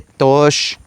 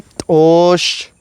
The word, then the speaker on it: t'oox: No se dice tos. Se dice tos tos.